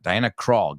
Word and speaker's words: Krall: So it's funny, their last name, even though it doesn't sound like that. Diana Krall, gatear. All right, no sé, se escribe C-R-A-W-L, pero se pronuncia igual.